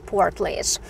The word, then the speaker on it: Portlaoise: a bit different than the way you pronounce it but you pronounce it as portlage again if i do